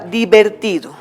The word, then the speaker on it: divertido: Por ejemplo, dividido en sílabas tenemos divertido. Di es átona, no lleva acento. Ver es átona, tampoco está el acento ahí. Ti, ahí se ubica el acento, por eso es sílaba tónica.